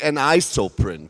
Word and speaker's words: Anisoprint: which is shown here it's called and I spell it correctly an ISO print so that's what I've learned so far um